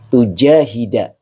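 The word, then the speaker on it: تجاهد: Tujahida. Nah, ini dibacanya tujahida. Fi'il mudhor yang dinasabkan oleh an dengan tanda nasabnya fathah. Begitu dengan fa'ilnya anta.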